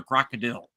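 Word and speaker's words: krokodil: How do you pronounce it? Crocodile or crocodil? Uh, wait. Oh, red crocodile. Yeah, crocodil. Okay.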